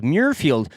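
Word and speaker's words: Muirfield: for today will be mfield mfield mirfield mirfield however you want to pronounce it muui r f i l d mfield mirfield Scotland correct I do believe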